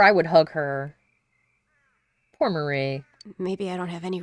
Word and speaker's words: Marie: fade away well now I have finally heard her name again and know that I've been saying it wrong this whole time so well it's Marie I'm going to forget immediately and call her Mary again or Mari Marie